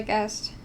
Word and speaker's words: guessed: It's weird, like, if you say guess in past tense, it sounds like guest, like someone, like a guest in your home.